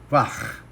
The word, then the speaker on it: Wach: O alemão, o CH, em geral, se pronuncia Wach, né?